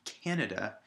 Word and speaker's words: Canada: syllable kannada similarly if i put it at the end on the DA it would be canada and we know that that's not the country we live in we know we live in Canada the first syllable is stressed and the second to our unstressed now here we come